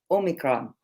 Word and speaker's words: omicron: asked my great colleague how to say it omicron that's right right now omicron is written as